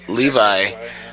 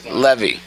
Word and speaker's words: Levi: Which I gotta say, I've been calling Zachary Levi. I've been calling him the wrong name for so long because it's one of those things of like I've read this word Levy.